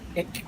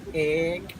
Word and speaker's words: Ek: For example, this one, if we pronounce it like ek, means star. But if we pronounce it a little bit long, like ek, is black.